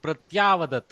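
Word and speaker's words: प्रत्यवदत्: Somebody said pratyavadat. Incorrect. Why dirgha? There is no dirgha akara.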